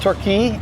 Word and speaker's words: Torquay: We're in Torquay. Is it Torquay? You pronounce Torquay. it? Torquay.